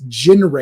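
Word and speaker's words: Ginrai: Prime in the cartoon he's jinr is how they pronounce it in the cartoon or Jin r g i n r AI so we're going to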